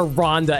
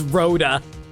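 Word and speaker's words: Rhoda: Oh my god, I've been calling her Rhonda. It's Roa.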